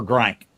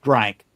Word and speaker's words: drank: And Sean Sean wants to go down there so he can get a purple drink. Well, heck yeah. The It's pronounced drank.